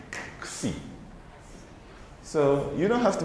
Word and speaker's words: xi: Similarly, many people say this is xi or zai even, but really what it is xi.